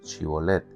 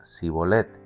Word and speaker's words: Shibolet: Si decía el hombre: no lo soy, ellos le pedían que pronunciara la palabra Shibolet. Si era de Efraín, diría Sibolet, porque a la gente de Efraín le cuesta pronunciar bien esas palabras.